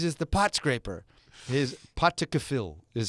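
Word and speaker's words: Pottaskefill: His patakafil is how you say it.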